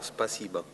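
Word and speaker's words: спасибо: Si pronuncia, giusto? Sì, una mezza O, Spasiba.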